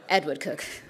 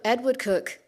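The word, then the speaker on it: Edward Coke: in this room than it would otherwise cook Edward cook at least I'm pronouncing it's written Coke as well so it's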